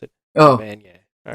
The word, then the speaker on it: Evanier: Evanier. All right, I wanted to just hear you say his name because I never knew how to pronounce it. Oh. Evanier.